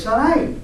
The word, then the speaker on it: Saray: hermano se llamaba sar porque no tiene acento en la i si tueras asento en la i fuera Sara i pero es Saray por no tiene asento